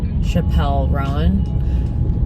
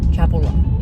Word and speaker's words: Chappell Roan: I used to mispronounce her name. I did used to say Chappell Roan. Chappell Roan.